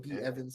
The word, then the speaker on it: B Evans: I want to make sure this it's your boy B Evans. Some people call me Bevins. Don't matter if you say it right, as long as you say it nice.